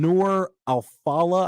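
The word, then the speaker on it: Noor Alfallah: reports Pacino and I I don't want to butcher this woman newer alfala I believe is how you pronounce it nice uh they've been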